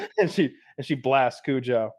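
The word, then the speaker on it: Cujo: he probably meant to be said Kujo like as an Americanized because if a family in Maine owns it like they're probably not saying Kuho like they would just say Kujo.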